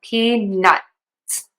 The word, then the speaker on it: peanuts: You can say, "Can I have some peanuts?" and really hit that T. That is totally fine, but I think it's easier to unrelease the T and then to say the S. So, peanuts.